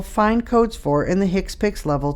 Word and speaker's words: HCPCS: HCPCS Level 2, pronounced HCPCS, stands for Healthcare Common Procedural Coding System.